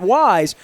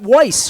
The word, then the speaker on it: Weis: we would shop at that wise i called it weiss because i didn't even you know like i didn't even know how to pronounce it and they weren't doing